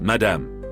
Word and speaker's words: madame: "Of course, madame," he said. He pronounced madame in the French way, flattering Mvinga's sense of herself as a big shot.